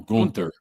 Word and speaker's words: Gunther: That everybody in the company does not pronounce Gunther's name right. Some call him Gunther, some call him Gunther.